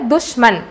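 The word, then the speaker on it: दुश्मन: அதற்கு எதிர்மறையான வார்த்தை துஷ்மன், அது தூக்கு மேலே எதுக்கு டிஹெச் போட்டிருக்கேன்னா து அப்படின்னு உச்சரிப்பு கொடுக்கணும்.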